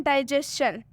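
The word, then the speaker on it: digestion: डाइजेशन, इसमें भी एस के बाद से TION है इसलिए हम इसमें भी चन पढ़ेंगे TION को।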